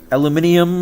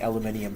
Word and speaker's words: aluminium: that puts it at aluminum or aluminium I think I'm gonna start saying aluminium for the rest of my life because that's how it's spelt and they named it we're wrong in North America aluminium 27 takeaways